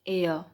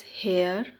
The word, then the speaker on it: heir: poet calls him unlucky heir. Heir is pronounced as air. It is not pronounced as hair or higher, it is pronounced as air.